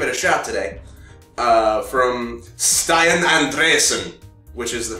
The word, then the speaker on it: Stian Andresen: From Stian Andresen, which is the pronunciation we've settled on for that name.